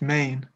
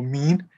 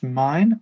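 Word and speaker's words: Meeusen: No, it's Thomas Main or Mean. It's definitely not Thomas Mine, as the commentator was saying last weekend, but he did correct himself after speaking with the team manager last weekend. But yeah, Thomas Mean is the British pronunciation, I'd say. Well, that at least makes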